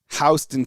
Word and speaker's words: Houston: And then Unhinged says, "Kyle, I meant to tell you pronunciation of Houston is Hon." Oh, that's dope. I like that. Hston County.